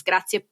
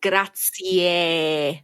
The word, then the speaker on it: grazie: The Z in Italian is pronounced more like a TS in English.